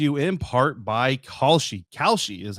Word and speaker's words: Kalshi: Kalshi is how it's pronounced.